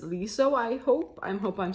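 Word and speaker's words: Leeseo: about the pronunciation and said it's with an L. So it's Liso, I hope.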